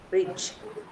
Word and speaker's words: bridge: Bridge. Bridge. So we D is silent here.